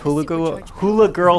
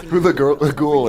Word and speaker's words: Hula Ghoul: You have your exploration, you have your puzzle solving, and you have Hula Girl Stella. That would have been funnier if I could say her name. Right. Hula Ghoul is the Hula Ghoul.